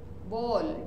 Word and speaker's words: bowl: Bowl. W is silent.